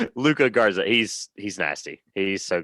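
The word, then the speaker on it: Luka Garza: he's Luke Luca Garza I always say his name wrong Luca Garza he's he's nasty he's so good and uh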